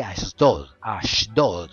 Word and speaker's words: Ashdod: sobresalen estos dos lugares, Egipto y Ashdod, como se pronunciaría en hebreo.